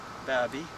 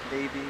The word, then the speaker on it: Baby: you win it said it says like baby it's not pronounced that way some people want to call it baby but it's and here's